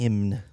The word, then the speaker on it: hymn: vaita era H and that's himn sure it's it's him you're saying it right but I'm saying for the people that it's him like h ym n I was just like